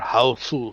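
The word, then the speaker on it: Hausu: from the 70s called house or housu if you go by the japanese pronunciation and it's image of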